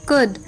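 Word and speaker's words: could: एल F calf C ओ यू एल डी कुड एस एच ओ यू एल डी शुड डब्लू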